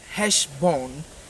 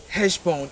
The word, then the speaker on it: Heshvan: Now, if we move from there, we go to the 8th month according to the Jewish calendar, which is Heshbon. Heshbon. It is spelled Heshvan.